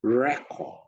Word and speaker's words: record: The correct word should be record. So record is a verb, such as I need to record my online meeting. On the other hand, record is a noun. This is a document that files information.